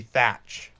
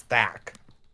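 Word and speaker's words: Thach: It's not actually Thatch, it's Thack. There is no T. There is no second T.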